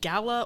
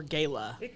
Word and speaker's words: gala: the one yeah like is it gala or gala it's either okay the kenyan and not the encyclopedia of pronunciation says either either would work or that's good to